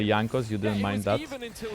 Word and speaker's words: Jankos: You pronounce it Yankos with J like not Jankos but Yankos in Polish.